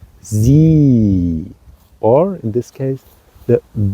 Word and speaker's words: sie: which means she, that you have this two letters following E, I and E, and there you have to pronounce it in with a long breath. So you say sie, or in this case, the Wiese.